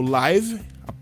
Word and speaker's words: live: Se eu falo live, é a mesma palavra. Se eu pronuncio live, é ao vivo. Mas se eu pronuncio live, é viver, tá? Elas são palavras homógrafas, se escrevem iguais, mas elas não são homófonas. O som delas não é igual, elas não se pronunciam igual.